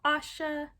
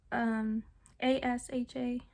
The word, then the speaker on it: Asha: And then Asha sounds like Sasha without the S. So Asha, Asha, Asha.